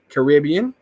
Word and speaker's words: Caribbean: is I like let Christina said it right Caribbean that's how we say it in Jamaica I know that's what